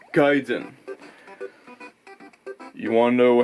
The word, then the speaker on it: Gaiden: It's not Gaiden, it's Gaiden.